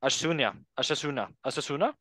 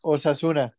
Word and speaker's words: Osasuna: Asunción? Yes. Osasuna.